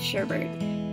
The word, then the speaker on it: sherbet: correct pronunciation is of sherbet. A lot of people say sherbet because that's how it's spelled, but I pronounce it sherbet.